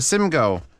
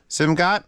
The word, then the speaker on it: Simgot: today we've got a Sim go simgot Sim go it's probably the t is silent the king Wonder or